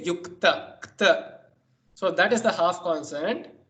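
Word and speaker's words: युक्त: say here itself yukta, you pronounce k only half. You say k, you don't say yukata, you don't say yukata, you say yukta, kta.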